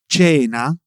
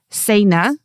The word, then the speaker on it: cena: So, that you can pronounce words like cena, which means dinner, ciao, hello, cipressi, Cyprus, right? Right, cuz if you would read it as if it were English, it looks like sayna, ciao, or ciprezi.